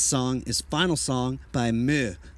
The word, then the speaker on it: MØ: We're Plaid Brixx, and this song is Final Song by Meh, or Mo, but I think it's actually pronounced Meh.